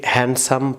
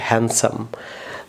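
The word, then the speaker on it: handsome: Because আপনারা অনেকেই এটিকে হ্যান্ডসাম প্রনাউন্স করতে, রং প্রনাউন্সিয়েশন, ডি এখানে সাইলেন্ট থাকবে, সো উচ্চারণটা হবে হ্যান্ডসাম।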